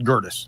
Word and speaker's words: Gerdes: I slaughter names all the time, but like we just call it Gerdes. Like that's how we pronounce it since we Americanized it or whatever.